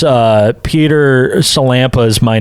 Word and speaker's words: Sillanpaa: uh it's uh Peter Campa is my name there it is yeah you might pronounce it cenra that's what it sounds like it's real easy to